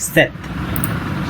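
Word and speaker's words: sept: क्योंकि इसमें जो P आता है, इस P का साउंड हमें नहीं करना है, इसे हमें प्रोनाउंस नहीं करना है। सो it's like सेथ। ठीक है, इट इज़ लाइक सेथ।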